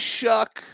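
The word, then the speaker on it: Shough: Tyler Shuck. His name is Shuck. Sounds like duck. Uh uh. Rhymes with duck cluck or buck.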